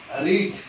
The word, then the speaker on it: read: रेड बोले तो RED नहीं, READ और READ, रेड. इसका प्रोनाउंसिएशन रेड करने का, लेकिन स्पेलिंग सेम रखने का. रीड, रेड, रेड. Pronunciation, sound देखो, साउंड रेड, रेड जैसा, लेकिन बोलने का रेड, लेकिन लिखने का सेम.